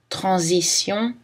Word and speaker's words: transition: Le S se prononce Z dans Alsace, subsister, et les mots avec le préfixe trans. Transition, transalpin. Mais le S se prononce S dans parasol vraisemblable.